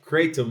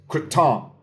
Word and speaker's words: kratom: This is a fresh kratom leaf, ketum leaf. I got to say it right. I'm in Thailand. It's not kratom. It's not kratom. It's quitom. Kratom.